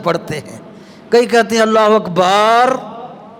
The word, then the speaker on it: اللہ اکبر: کہتے ہیں اللہ اکبر، یار یہ بار تھوڑی ہے، بے کو لمبا نہیں کرنا، اللہ الف کو بھی نہیں لمبا کرنا، لام کو لمبا کرنا ہے، اللہ اکبر، یہ تلفظ صحیح ہونا چاہیے۔ اگر کسی مقتدی کو